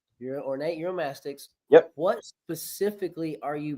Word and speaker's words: Uromastyx: eurom mytic am I saying it right ornate eurom mastics ornate eurom mastics yep what specifically are you breeding for right